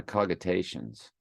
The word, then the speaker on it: cogitations: My cogitations much troubled me. I think I want to know how to pronounce that word. I know of like cognition, but there's no N with that word.